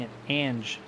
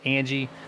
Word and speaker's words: Angie: 69 of Steve Angie I've been pronouncing an Ange since the drop of the green flag of Daytona so I appreciate you uh correct me it's Angie and then yes the